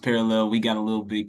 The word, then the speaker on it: Parallel: It's spelled parallel, spelled like that, but pronounced parallel.